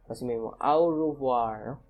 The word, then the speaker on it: au revoir: pronounced like as aoha au revoir a u is pronounced o just like the letter o o okay okay so